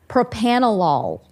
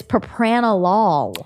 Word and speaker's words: propranolol: pronouncing this word and it is propanolol it is yes it's not propanol no and I thought it was too yeah it sounded so right when you said it it I wanted it to be right but it's Propranolol I almost need to